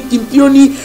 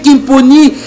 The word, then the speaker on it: Kimponi: C'est le travail de image Anthony Amissi qui est derrière la caméra et Guilain Kimponi, j'ai toujours du mal à prononcer ce nom. Des fois, j'ai dit Kimpioni, c'est Kimponi. Et dans le montage, Anthony Amissi et Florian Kyodo de Sinark TV.